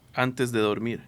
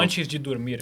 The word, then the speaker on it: Antes de Dormir: Because the last song in your set is Antes de Dormir. That's it. Did I pronounce that right? You pronounce it in Spanish, but that's close enough. Well, Antes de dormir.